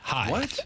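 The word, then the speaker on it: heigh: So, how did you spell it? H E I G H. Hi.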